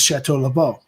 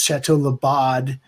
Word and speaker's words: Chateau Le Bon: the different bottles, and she said that it was Chateau Le Bon. Right, but prior to that, everybody was trying to pronounce Chateau Le Bod, Chateau Le Bodie.